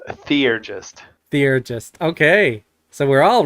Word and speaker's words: theurgist: So theurgist is what you said, right?